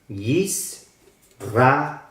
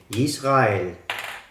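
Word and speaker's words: ישראל: Entonces la pronunciación en hebreo es Yisrael. Yisrael. Recuerden que la R es de la garganta.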